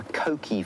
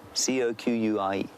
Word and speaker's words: coqui: Coqui francolin, and it's an onomatopoeic name.